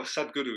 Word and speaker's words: Sadhguru: I was watching a thing with Sagradoo. Is that how you pronounce his name? Oh, Sadhguru, yeah.